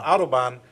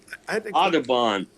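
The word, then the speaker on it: Autobahn: the the highway the autobond society actually has money set aside for the meeting you aabon not Autobon oh aabon named after James aabon the uh painter oh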